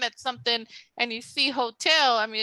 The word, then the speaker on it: hotel: because Hotel becomes Hotel you cut off the H and you start with the o old so where how